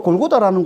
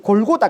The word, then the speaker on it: 골고다: 말이죠 골고다이 해골이라 뜻입니다 원래는이 골고다 아람어 아람어는 갈타 말이에요 갈 이 갈타 헬라 음역이 골고다에 어 원래 발음은 구갈데 헬라어로 의역할 때 이게 골고다 이렇게 되는 거고 이걸 라틴어 하면 이게